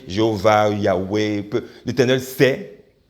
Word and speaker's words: Yahweh: And when they started to pronounce it, they pronounced it Yahweh.